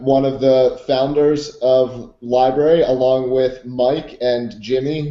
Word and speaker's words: LBRY: we're here with the library. unless you guys go by the more acronym term now uh library is absolutely how you pronounce it we say lbr y